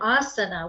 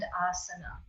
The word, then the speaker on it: asana: And those 8 limbs, we mentioned 3 of them already, yama, niyama, and asana, right? Yama, niyama, and asana. And the only one that has a long A there is asana.